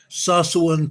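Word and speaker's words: Tsawwassen: I think it's pronounced I think the t is silent it's sasan Canada TS a wwen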